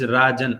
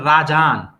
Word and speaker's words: Rajan: It is Rajan, R-A-J-A-N, right?